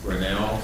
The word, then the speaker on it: Grinnell: I'd also like to move for adoption of resolution number 92, which is approved renewal of the Tyco Simplex Grinnell service agreement. Am I pronouncing that right?